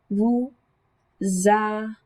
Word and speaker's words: vous avez: We have vous, like we would normally say, but that S sound travels over. It's vous avez. That's how I pronounce that.